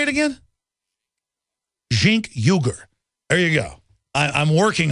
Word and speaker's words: Cenk Uygur: Jink Uyghur.